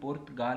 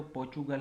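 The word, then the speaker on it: Portugal: और जो ये पुर्तगाल है अगर इसी का प्रोनाउंसिएशन देखें तो पोर्चुगल होगा।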